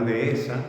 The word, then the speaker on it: dehesa: en un lenguaje coloquial, cuando vamos a referirnos a una dehesa, decimos dehesa. Pues sí, está en la dehesa. ¿Por qué? Porque lo decimos muy rápido y entonces solamente pronunciamos una vocal. Si queremos hacerlo bien, tenemos que hacer una pequeña pausa y esa misma pausa es la que nos forma el hiato.